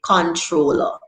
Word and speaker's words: comptroller: So it's saying in the word comptroller, the M and the P would come together in some pronunciation and they would say controller.